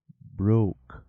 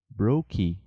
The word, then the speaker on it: broke: Broke. Brokey.